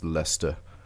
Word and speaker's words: Leicester: Square and Waterloo stations it's spelled like like Esther but when you're British I think it's lista and so that they're